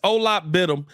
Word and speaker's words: Onuralp Bitim: How we said first off, we gonna give them the Chicago pronounce it. It's Onuralp Bitim.